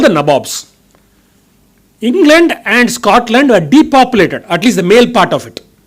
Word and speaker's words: Nabobs: They were called the Nabobs, N-A-B-O-B-S, which was what they pronounced the Nawabs as.